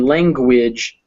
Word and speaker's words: language: the delicious language and this one has that g unlike things where you didn't pronounce the g it was just things but in language you do pronounce the